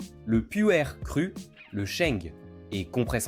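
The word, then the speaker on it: Pu'er: Le puer se prononce puer.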